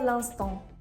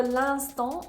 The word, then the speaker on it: l'instant: For l'instant, there are 3 silent letters, the 2 N's and the te.